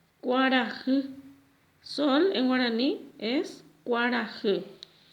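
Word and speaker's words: kuarahy: En guaraní decimos cuarajı. Cuarajı.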